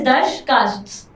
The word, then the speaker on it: Darsh Casts: So that is Darsh Casts. CASTS. दरकास्ट, Darsh Casts. दर्श कास्ट। Yes. A bit difficult to pronounce, challenging, but interesting.